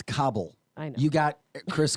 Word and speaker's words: Kabul: It's Kabul.